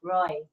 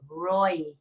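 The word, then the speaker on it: Ray: up the room Roy it's spelled r a y but he he pronounces it Roy Roy welcome and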